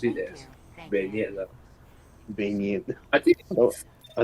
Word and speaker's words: beignet: is it baguette or is it beignet? Beignet. Beignet. Beignet. That's how that's pronounced. Yeah. Okay. No, I don't know. Man. They're like Southern Louisiana American. They pronounce it as beignet.